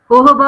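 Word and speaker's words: jojoba: होहोबा ऑयल जो basically spelling के अंदर जोजोबा ऑयल की तरह का होता है, मैं ये यूज कर रही हूँ।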